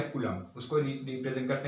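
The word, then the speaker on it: coulomb: हूं वो है -1.6 * 10 पावर -19 कूलम्स।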